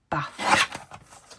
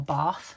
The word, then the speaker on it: Bath: We've decided we are going to Bath or Bath, depending on where in the country you are as to how you say it. But yeah, Yorkshire girl with flat vowels here, so we call it Bath.